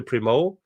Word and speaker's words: Primo: Primo, is that how you say it? Yes. That's spelled Primo, yes.